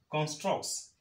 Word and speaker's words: constructs: between these two consonants and so what you have here is constructs constructs can you attempt pronouncing this and this to see the difference between the two constructs all right constructs constructs constructs you will agree with me that this version of it is easier to be pronounced than struggling to realize